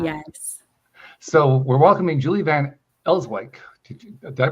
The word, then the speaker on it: Van Elswyk: So we're welcoming Julie Van Ellswick. Did Did I pronounce that right?